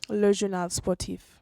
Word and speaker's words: Le Journal Sportif: Le Journal Sportif.